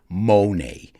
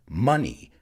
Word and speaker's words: money: must not pronounce it monet it's money like honey and funny but if you have